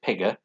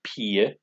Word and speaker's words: pige: It looks like pigger, but it's pronounced pige, is girl.